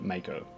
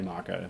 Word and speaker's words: Mako: Like every Australian that I know that ever played this game, we always pronounce it Mako. Mako Shark, Mako Energy, Mako Reactor. But I've seen the Final Fantasy VII demo, a remake demo, and they clearly say Marco.